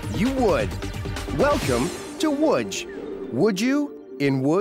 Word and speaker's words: Łódź: all year round would you be surprised how it's spelled you would welcome to wood would you in woodge